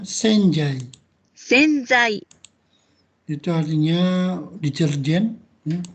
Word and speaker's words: 洗剤: Dibacanya senjai.